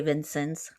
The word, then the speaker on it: Vincennes: The biggest trade city, I don't know how Indiana pronounces it. It's Vincennes. Vincennes. Yeah. Okay. We say Vincennes.